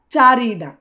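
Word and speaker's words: 자르다: উচ্চারণটা চারিদা।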